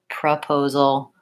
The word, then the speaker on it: proposal: And when it's not stressed, it's going to say pra, proposal, professional, etc.